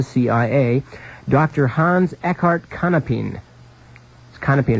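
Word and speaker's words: Kannapin: Kanapin is spelled K-A-N-N-A-P-I-N.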